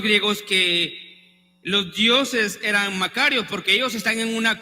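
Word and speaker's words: μακάριος: podemos definir esa dicha la palabra en el original es una palabra que se pronuncia makarios entre paréntesis cuando era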